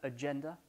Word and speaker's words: agenda: Accent tonique là, agenda, diary ici, et schedule, il est bien sûr ici.